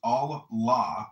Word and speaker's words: Allah: the God in Arabic will be Allah, pronounced Allah, or Allah, which is simply God with a capital G.